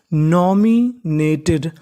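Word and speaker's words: nominated: यानी आपको इंग्लिश में कहीं पर टी ई डी लिखा मिले तो आपको उच्चारण करना है टेड। तो मीनिंग बनी नॉमिनेटेड।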